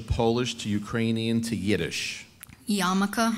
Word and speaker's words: Yarmulke: Yarmulke, am I saying it correctly? You are.